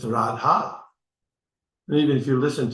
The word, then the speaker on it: Radha: from the American background they used to mispronounce the the mantra you know that usually they saya jada you know that but it's not rad it's radha and even if you